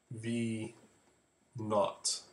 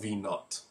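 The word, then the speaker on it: v₀: final or initial and that zero you pronounce it v naught all right so you can call it V initial whatever but it's called v naught a is obviously the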